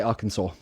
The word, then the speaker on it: Arkansas: So it's spelled Arkansas, but we say Arkansas.